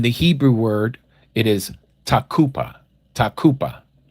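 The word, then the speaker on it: תקופה: In the Hebrew word, it is takupa. Takupa. Some people pronounce it takufa with a f like in Frank, but it's actually a P sound.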